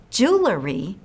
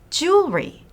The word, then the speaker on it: jewelry: just to make sure remember it's not jewelry it's jewelry say it this way